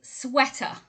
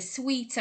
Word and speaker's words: sweater: word number four is sweater sweaters and it comes from the verb to sweat now a lot of people say the sweeter and other variations but it's most definitely sweater and in fact in